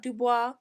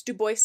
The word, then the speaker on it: Dubois: Duboce, Idaho, 1916. population 233. And before any of you come at me, it is pronounced Duboce, not Dubois. I double checked multiple times. So, it's Duboce, Idaho.